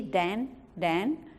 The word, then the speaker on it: Tan: So my great-grandfather was T-A-N-C-H-A-N, which in Chinese the T is more like a D, Dan, which easily becomes Daniel, right?